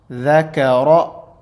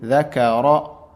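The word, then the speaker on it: ذَكَرَ: Dhakara. Ra has a zabar or a fatha on it, so it will be pronounced as heavy. Dhakara.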